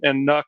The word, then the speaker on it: NUC: Some people call it NUC, other people call it NUC, and NUC is the rhymes with luck, and it stands for the next unit of computing, NUC.